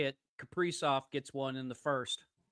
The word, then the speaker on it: Kaprizov: Kaprizov gets one in the first. Yeah. Yeah, 1-0 Nice. Wild over the Knights. Isn't it pronounced Kiprasov?